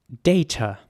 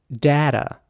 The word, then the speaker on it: data: And in American English, it would be more like data. So the A would be pronounced a, data, And the T is again very soft, like in tomato.